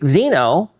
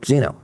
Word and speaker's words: xeno: Zenithine comes from the Greek xeno, pronounced, okay, xeno, K-S-E-N-O. So I think that would still be xeno, meaning foreign.